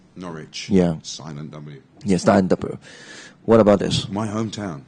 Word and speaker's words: Norwich: not rich not rich just forget the W again again the W is not pronounced Norwich yeah what about this